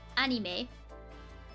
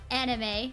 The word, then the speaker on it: anime: of like severely mispronounced anime when I was a kid I would call it anim cuz I didn't know how to pronounce it until I watched Lucky Star and she said anime and I was like